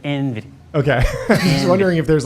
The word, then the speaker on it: NVIDIA: But he's not NVIDIA bearish.